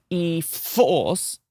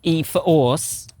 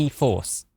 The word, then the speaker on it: e-4orce: the 2023 Nissan Ariya e-4orce. This is the premium. Did you not read the press release? No. Oh, it says specifically that you don't pronounce it e-4orce.